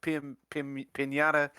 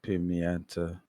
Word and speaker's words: Pimienta: on purpose or accident whose name sally pimienta pimienta it is how about that it is a difficult name to pronounce it's a beautiful name for a beautiful lady not sally pinata if you say sally